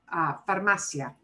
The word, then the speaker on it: farmacia: No lleva tilde, it does not need an accent mark. We punch this more, that is correct. It ends in an A, and the second from last syllable goes back here to this ma syllable, okay?